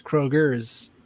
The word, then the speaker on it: Kroger: and first of all if you're gonna say it you have to say it like you're from wheeling and that means it's not kroger it is krogers so you have the s like giant eagles because